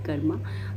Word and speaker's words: कर्म: और सही इसका मतलब सही उच्चारण करें या सही प्रोनाउंसिएशन करें तो इसका सही तरीके से इसको कर्म ही बोला जाता है, कर्मा नहीं बोला जाता।